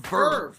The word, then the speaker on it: VRV: that isn't just anime it's called perv and it's spelled vrv which is kind of stupid but hey naming stuff